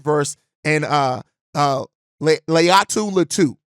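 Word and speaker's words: Laiatu Latu: far is Jared ver and uh uh Le Leu latu said it right that time leat lau and so these are both guys that I've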